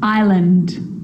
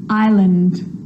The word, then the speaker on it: island: is not pronounced now an S can also be silent and I know that you've already struggled with this one island island debris debris and I'll